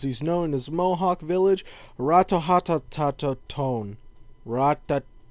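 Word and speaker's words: Ratonhnhaké:ton: In Assassin's Creed 3, you take the role of Connor, or as he's known as Mohawk Village, Ratohatatatone. Raduhagedo. That's how you pronounce it.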